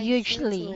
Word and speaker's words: hugely: So this one, you did not pronounce the Lee. You just say they are even huge popular primetime TV shows. So it They should are be even hugely.